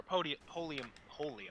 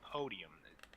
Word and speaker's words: Polium: So according to Podium One themselves, or Polium, I'm calling them Podium. Pronounced Polium actually, but I'm just calling it Podium. Number one, because I know it's probably annoying them. Number two, it sounds better. I'm sorry, it just sounds better. It sounds fancy. I mean, come on, it sounds better than Polium. You have to admit.